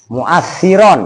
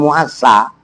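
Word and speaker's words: مؤثرا: Ya, mu'assiron. Mu'assiron. Nah, kenapa saya nyuruh bacanya mu'assi nggak mu'assa? Lihat bawahnya, wafa'ilan. Kan isim fa'il.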